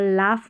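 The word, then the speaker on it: laugh: और लाफ में GH को फ पढ़ते हैं, और काफ़ी सारी स्पेलिंग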